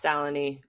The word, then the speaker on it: Salinee: Ado everyone please welcome Seline did I get that right it's salony or S whichever is easy yeah I always figure